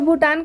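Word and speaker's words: Bhutan: से रूल्स हैं तो भूटान का यहां पर भी का उच्चारण भी से हुआ है क्यों हुआ है क्योंकि बी हा जहां आएगा वहां पढ़ेंगे हम भी को भूटान का मतलब भूटान ही होता है जो की एक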